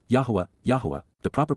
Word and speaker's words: Yahowah: growing again these would be weeds and W Yahweh Yahweh the proper pronunciation of the name of eloah God as